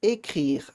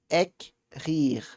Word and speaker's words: écrire: Eu vou pronunciar primeiro EC. EC. Depois eu vou pronunciar RI. RI. Aí eu vou juntando mais devagar. Écrire. Écrire.